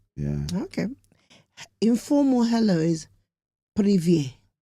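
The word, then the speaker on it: привет: Informal hello is privet. Spelt Privet, but pronounced privet.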